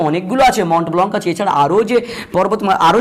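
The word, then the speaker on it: Mont Blanc: দেখি সর্বোচ্চ শৃঙ্গের আমি তখন দিলে আগে, তারপর মন্ট ব্লঙ্ক, হ্যাঁ MONTBLANC, ব্ল্যাঙ্ক উচ্চারণ হবে না, উচ্চারণ হবে ব্লঙ্ক, হ্যাঁ মন্ট ব্লঙ্ক।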